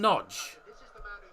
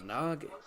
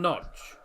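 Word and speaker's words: Nagy: but hungry do come away of it Adam noge thought it was Nagi I thought it was Nagi noge okay that's how it's pronounced Adam Nodge interesting I didn't know that was actually how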